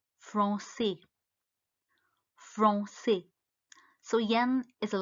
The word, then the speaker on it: français: The last letter R is silent, so it's parler. The next word is French. The language French is called français.